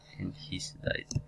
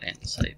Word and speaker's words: andesite: Okay, why do we dig down into andesite? Or that's not how it's pronounced. It's called andesite, but I like calling it andesite.